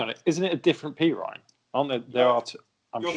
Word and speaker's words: Perine: It's just it's just nice to hear people confused over how to pronounce his surname, isn't it? Because it's just never how you expect it to be pronounced. Is it definitely P. Ryan? It is definitely P. Ryan, yeah.